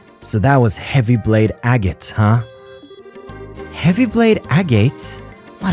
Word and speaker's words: Agate: Okay, so it is Agate. Okay, cool. This is a useful resource, and I will reference that later on. I see. So that was Heavy Blade Agate, huh?